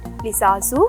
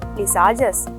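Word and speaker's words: Lissajous: These are called visasu figures also commonly pronounced as visajas.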